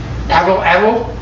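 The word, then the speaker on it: atlatl: The L is hard to pronounce. People say, I can't pronounce it. I said, well, just change that A in Atlanta to Atlanta, and it's very close. The TL is very difficult.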